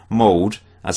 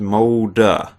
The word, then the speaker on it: Molde: had various people saying mold as I was pronouncing it the Norwegian team is pronounced molder so ah at the end or e H something